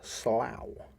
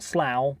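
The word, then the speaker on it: sluagh: kidnap people similar are the slough s l u a g h right so not Slough but Slough who would come from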